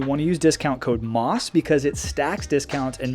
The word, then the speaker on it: MAUS: to use discount code MOSS because it stacks discounts and maximizes your savings. And MOSS is spelled M-A-U-S.